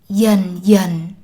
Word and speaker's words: dần dần: The initial consonants D and GI are pronounced as y, the southern way, while the final consonant n is pronounced the northern way. Dần dần, thời gian.